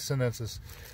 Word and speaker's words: chinensis: Or I believe actually they spell it CHINE. They spell it Chinensis and says Sinensis.